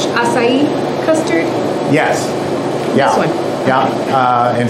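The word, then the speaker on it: açaí: and there's a chi ice cream but it's pronounced acai or close to that but it's a wonderful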